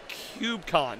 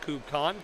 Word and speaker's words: KubeCon: And I didn't quite know what to expect, but It's KubeCon, not KubeCon. Come on, it is in GitHub, how you have to make the pronunciation correct.